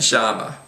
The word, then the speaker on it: llama: So many times you'll hear, including from me, these words pronounced millón, amarillo, and llama. So you'll get that especially in places like Argentina, where it's actually almost pronounced like an SH sound.